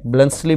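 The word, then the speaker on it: Bluntschli: ब्लेड्सली कहते हैं, ये लीजिए, टै इसमें साइलेंट है, ब्लेड्सली बोल देते हैं इसको।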